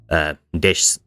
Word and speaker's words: desu: For example, des, for example, or deshta. In both cases, the e and u in desu and deshita have been reduced away, and the amount of syllables has collapsed.